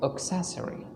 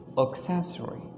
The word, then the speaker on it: accessory: uh you are mispronouncing this word the correct pronunciation for this word is accessory accessory accessory you need to have all of your